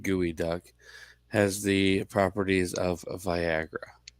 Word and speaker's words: geoduck: that a local shellfish the geoduck uh pronounced gooey duck has the properties of